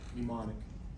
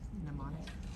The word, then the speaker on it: mnemonic: So, mnemonic. Mnemonic. When I was growing up, we said mnemonic, but now they say mnemonic. And I can't find it pronounced anywhere else differently now.